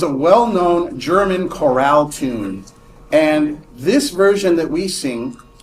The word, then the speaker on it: Angers: So internal evidence indicates that the poem it was a poem originally was written at an which is a French town that's spelled like angers but it's pronounced an so if I'm like